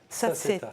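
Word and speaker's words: Sassetta: Saceta. Ah, Saceta, oui, pardon. Voilà, Saceta. Oui. Ensuite. Prononcé à l'italienne, bon.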